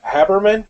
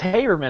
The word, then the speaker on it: Haberman: special guest tonight is habberman did I pronounce that right it's hberman actually all right I knew